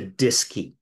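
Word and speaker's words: DSKY: a device called the disy and disy is spelled dsk Y and it's short for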